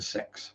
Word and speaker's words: CeX: wet at all and yes that is actually pronounced a sex bag um really bad name for a a